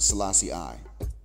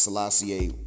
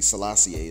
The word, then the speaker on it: Selassie I: a is nothing special now I know y'all pronounce it Selassie I that's Selassie a number one but in actuality Selassie a is the heart pronunciation so that's where I'm saying it this way likewise we know that